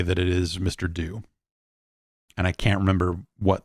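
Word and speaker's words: Mr. Do: it is it is in fact it is pronounced mr do but that yes the it makes sense that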